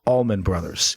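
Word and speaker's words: Allman Brothers: of all time and their name is pronounced Almond Brothers but this John lennin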